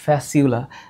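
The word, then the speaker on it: Fasciola: ফ্যাসিউলা tinea উচ্চারণ কি করবা? উচ্চারণ করবা হচ্ছে ফ্যাসিউলা। এইটার উচ্চারণ করবা ফ্যাসিউলা।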